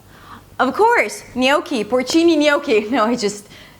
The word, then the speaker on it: gnocchi: And his girlfriend, she was sweet, she's like, "gnocchi". "Of course, gnocchi! Porcini gnocchi, you know, just sorry about that." Anyway, "gnocchi". So the spelling has nothing to do with the pronunciation and the pronunciation is 'nyow'.